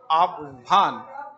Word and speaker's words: आह्वान: आह्वान, व का पहले उच्चारण फिर ह का उच्चारण।